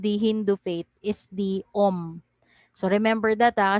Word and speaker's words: om: i it's called om so om actually is a syllable it's a syllable in the hindu language and it is composed of three sound the sound of a the sound of u and the sound of m so om so the